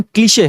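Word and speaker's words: cliché: इसका pronunciation क्लीशे है मेरे दोस्त।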